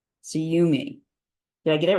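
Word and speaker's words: SUYUME: y capital u capital m capital E it's pronounced suum suum did I get it right yes Wesley holds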